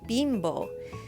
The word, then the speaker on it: Bimbo: the heck is a bimbo bread truck well bimbo is a giant bread company in mexico and it's actually pronounced bimbo and it is so big this mexican company